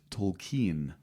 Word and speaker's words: Tolkien: Remember, for that his last name is properly pronounced Tolkien.